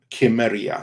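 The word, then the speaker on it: Cimmeria: also with the hard it's also with the hard hard c because you just have to realize this that the soft sea that's a relatively modern invention for the english language historically it was only hard k i mean at some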